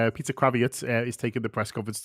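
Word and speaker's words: Krawietz: Sorry, I always want to pronounce it like Lenny, but it's not. Peter Kravitz is taking the press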